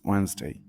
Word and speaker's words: Wednesday: can say like this but the the real pronunciation is Wednesday but for spelling you can say you can